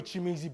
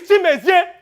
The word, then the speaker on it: Chimezie: Now you listen to me, Sonny, and your boy Chimizi better listen up too. I had enough of it. My name is Chimezie. Chimezie. Ona come Chimizi. Afambu Chimezie. Learn how to pronounce it.